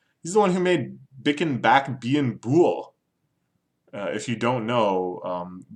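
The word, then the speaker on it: Bicken Back Bein Bool: If you don't know, Bloods try to prevent themselves from making C sounds, like the hard C sound, because that's associated with Crips. So instead of saying kicking back being cool, you say bicking back being bool.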